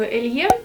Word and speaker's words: Alien: Я давно мечтаю купить себе в коллекцию Эльен или Эльен, все почему-то по-разному предпочитают произносить. Давайте оставлю Эльен.